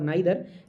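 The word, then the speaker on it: neither: नीदर के दो pronunciation होते हैं, नीदर और नाइदर। नाइदर जो होता है ब्रिटिश एक्सेंट होता है, जबकि नीदर अमेरिकन एक्सेंट है।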